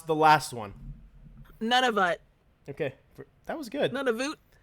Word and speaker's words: Nunavut: And I want you to pronounce the last one. Nunavut.